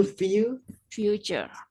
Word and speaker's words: future: Pokoknya kalau ada T-U-R-E bacanya cher. Gambar itu Picture. masa yang akan datang itu Future.